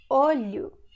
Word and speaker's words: olho: See, if it's difficult for you to pronounce it first, because you don't have this sound in English, you can say li, li, falha, olho, until it becomes natural, okay?